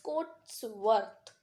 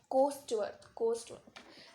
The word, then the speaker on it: Coatsworth: You know how to pronounce Coatsworth? It's Coatsworth. Coatsworth. Sometimes children used to say it Coatsworth, not Coatsworth, Coastworth. It's not Coastworth, it's Coast Coatsworth.